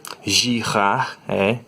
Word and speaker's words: Girard: Girard era um francês, por isso que você tem que pronunciar o nome dele com esse sotaque, sabe? Girard, ele também era físico e matemático, né?